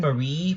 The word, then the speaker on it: Marie: me to make the Squid Sisters, Callie and Mary from Splatoon, or Callie and Marie. How does it? Yeah, like you pronounce that name Marie, but you want to say Mary, so it rhymes with Callie better.